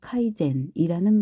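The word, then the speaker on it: 改善: 바로 개선 일본어 발음으로 카이젠이라는 말이다.이 말은 문자 그대로 끊임없이 나아지는 것을 의미하며 일본인들은이 말을 그들의 대화에서 매우 자주 사용한다.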